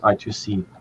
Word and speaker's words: I2C: not the right terminology a lot of people say I I I or IC squ um but I just say i2c because um it's minus a syllable and let me just